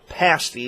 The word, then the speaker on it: pasty: shops along Highway 2 it's actually pasty that's how you pronounce it and it's nothing you